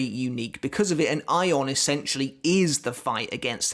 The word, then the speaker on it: Ayon: whole spanish theme i believe that should actually be ion i think that's pronounced correctly and future releases future translations do have it spelled as a y-o-n so i think that is how you pronounce it but ion arrives